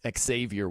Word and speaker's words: Xavier: worthy by the way he does pronounce the X right there xavior worthy then it says